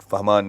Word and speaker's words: Fahmaan: Fahman is the pronunciation.